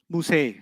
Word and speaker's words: Musa: Musa will always be non-flexible. Musay. You haven't heard Musi, you've heard Musay. That's a qira'ah difference. It's a pronunciation difference, not a grammar difference.